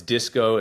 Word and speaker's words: Dysko: It's DYSKO. It's spelled DYSKO.